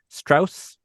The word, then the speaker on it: Strauss: first time with u Strauss. Strauss straws. Straws. It is Strauss, but he made a point of pronouncing it straws because he wanted to sound American and southern.